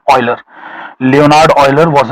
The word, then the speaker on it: Euler: अब ये यूलर नहीं है, इसका करेक्ट प्रोनाउंसिएशन है ऑयलर।